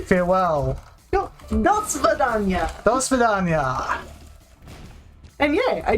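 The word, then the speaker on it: до свидания: Das Vidania is actually how you say goodbye. It's like farewell. No, Das Vidania.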